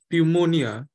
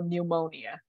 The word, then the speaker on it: pneumonia: all right next term pneumonia all right so remember there's no P here this p is silent so pneumonia pneumonia excellent um